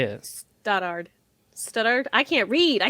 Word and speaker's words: Stoddard: Stoddard. Stoddard? I can't read. I said that already. I forgot to ask beforehand. I mean, no, it was close enough. Stoddard, yeah.